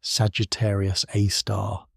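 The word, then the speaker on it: Sagittarius A*: galactic centre, which they named Sagittarius A star, pronounced Sagittarius A star.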